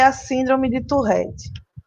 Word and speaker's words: Tourette: Então, a pronúncia correta é Tourette, porque vem do francês.